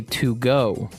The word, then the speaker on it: Togo: Cuz if you look at it, I would say to go, right? But it's not to go, it's togo.